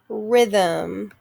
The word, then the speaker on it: rhythm: with that rh sound rh just makes the er sound rhythm the h is silent next word knife just